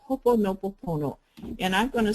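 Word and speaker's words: Hoʻoponopono: The accents on the first syllable.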